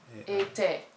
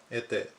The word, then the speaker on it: était: Était is A-I is pronounced A. Était. Était.